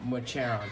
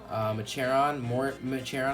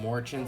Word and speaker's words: Mochiron: I believe it's Mochiron, I believe, but I used to call him Morchin, so I call him Morchin sometimes.